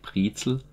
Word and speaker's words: Brezel: Strictly speaking, we pronounce the word pretzel more broadly in Germany, like Brezel.